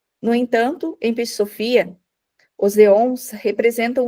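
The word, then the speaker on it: αἰών: usada no texto é o termo grego aon pronunciado Eon era usado na Grécia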